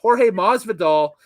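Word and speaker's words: Jorge Masvidal: the name correct here so i got the pronunciation down on the notes so it is uh yeah jorge or yeah jorge mas vidal with the running a need the new japan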